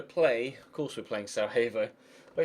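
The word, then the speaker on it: Sarajevo: We are going to play, of course, we're playing Sarah Havo. Wait, S. Is it Sievo or Sarah Havo? I think it's Sieo, isn't it? I think the J is pronounced like a Y.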